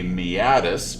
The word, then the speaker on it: meatus: They are a meatus. Meatus, that's how you pronounce it, by the way.